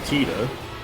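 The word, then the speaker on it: Tidus: but to be fair, in Final Fantasy 10, they never even say Titus's name. So, we have to learn from Kingdom Hearts that it's actually Teta.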